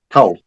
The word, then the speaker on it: Coel: Okay, her name is spelled Michaelae. Michaela. Yeah. Michaela, what's the last name? Michaela. Go ahead. Yep. Coel. Cole. Yeah, cool. So it's Michaela Cole.